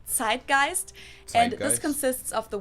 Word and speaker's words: zeitgeist: other languages too to Americans usually say zeitgeist and German we pronounce it side Geist and this consists of